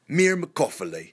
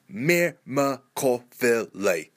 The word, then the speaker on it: myrmecophily: First word, 5 syllables. Myrmecophily. Say it with me. Myrmecophily.